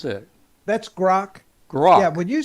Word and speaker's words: Grok: I think I thought it was spelled G-O-R-K, but I think it's G-R-O-K. How would you pronounce that? That's Grok.